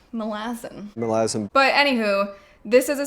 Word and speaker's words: Malazan: First up on the list would be the next book in the Malazan Book of the Fallen series. That is apparently how the author Steven Erikson pronounces the series name.